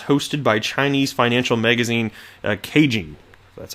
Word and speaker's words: Caijing: Economic Outlook conference hosted by Chinese financial magazine Caijing. That's how it's pronounced.